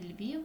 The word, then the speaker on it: Львів: Київ наголос на и у слові Львів у нас один голосний звук він значить він буде у нас наголошений Львів один Одеса наголос на е